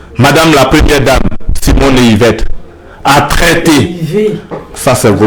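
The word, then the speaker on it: Ehivet: Donc, vous revenez, j'ai dit Yvette. Excusez-moi. Parce qu'il y a le T à la fin. Oui, mais ça ne se prononce pas, il n'y a pas eux non plus.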